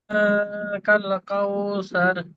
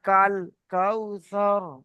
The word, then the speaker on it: الكوثر: সার না, ওটা সা।